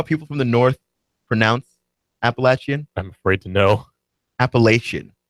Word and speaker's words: Appalachian: d it public education but the the they're pronounced Appalachian apparently and I and I did not learn